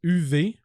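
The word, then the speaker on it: Uwe: faut le prononcer ok ça s'écrit u W ok u ça c'est son prénom comme ou mais ça ça se prononce UV ah ça se prononce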